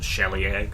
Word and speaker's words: shillelagh: Yeah, I noticed a shillelagh does that too. I pronounce it shellyak, but 1d8 slash.